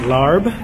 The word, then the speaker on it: larb: Some people pronounce it larb, which is fine. Call it what you want.